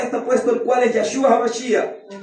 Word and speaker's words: Yahshua: ¿Y cómo se dice este nombre? Ya, ¿verdad? Yahshua. Hoy modernamente le dicen Yahushua, porque los judíos no